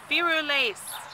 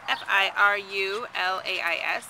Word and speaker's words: Firulais: All right, everybody, this is Firulais. That is spelled F-I-R-U-L-A-I-S, Firulais.